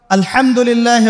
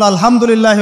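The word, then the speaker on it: الحمد لله: আলহামদুলিল্লাহ ভালো আছি তো আলহামদুলিল্লাহ না বলে সে বলেছে আলহামদুলিল্লাহ ওই যে হা এর উচ্চারণ পরিবর্তন হয়ে গেছে এই কারণে অর্থ পরিবর্তন হয়ে দাঁড়াবে যে সমস্ত নিন্দা আল্লাহর জন্যে যিনি জগৎসমূহের রব আমার কথা কি বুঝতে পারছেন শুধু হা এর মাখরাজ ভুল হওয়ার কারণে এই সমস্যা হলো তাই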